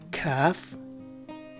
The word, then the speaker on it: calf: The letter A is what makes the two variations differ from each other. In the first variation, it's a short letter A, whereas it's a stretched out letter A in the second variation, as indicated by the diaresis symbol on top of it. So the right way to say this word is either calf or cough.